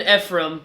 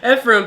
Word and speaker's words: Ephraim: Okay, so he's going, his friend Ephraim. Is that how you pronounce it? Ephraim.